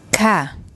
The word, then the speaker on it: ค่ะ: So the polite particle for females is like ka, and for males it's krap.